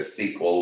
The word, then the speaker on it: SQL: SQL structured query language you can go ahead and pronounce it a sequel we just add the vowels into the acronym and SQL works with